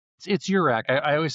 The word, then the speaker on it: URAC: I always say like this is my rack, that's your rack.